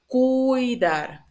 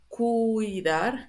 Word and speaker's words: cuidar: And I repeat this too because my students usually make this mistake. This is cuidar, cuidar, and this is ciudad, right?